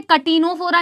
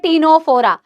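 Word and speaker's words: Ctenophora: Phylum क्या है ma'am टीनोफोरा कोई भी इसे कैटिनोफोरा नहीं बोलेगा this is नॉट कैटिनोफोरा this is अ टीनोफोरा सी is again silent.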